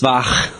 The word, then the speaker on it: Bach: Pronounced Bach. Bach.